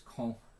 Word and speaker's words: Caen: You can go to, I believe it's Caen, is how it's pronounced.